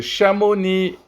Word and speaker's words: Chamonix: en 2029 moi ce Chamonix est-ce qu'on prononce le X non on ne le prononce pas c'est juste et